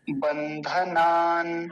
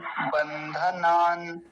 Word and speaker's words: बन्धनान्: आगे और देख लीजिए, बंधनान, बंधनान, नकार हलंत देखिए बीच में है।